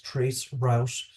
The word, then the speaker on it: tracert: in today's networking world tracert Tracer which is pronounced as Trace Rous is a tool used to trace a network